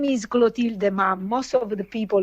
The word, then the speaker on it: Clotilde: you come from first okay my name is gulo Tilda mom most of the people who called me